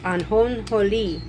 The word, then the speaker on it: ajonjolí: The seed, which is sesame seed, in Spanish is called ajonjolí. I like the way that sounds, ajonjolí, because a J is an H sound.